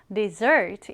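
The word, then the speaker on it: dessert: 발음할 때는 강세를 뒤에 두어서 desert 이렇게 읽습니다.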